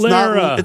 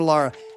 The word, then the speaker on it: Lara: If you say my name in the outro of a future episode, it rhymes with Sarah or Tara. It's Lara. not Laura or Lara.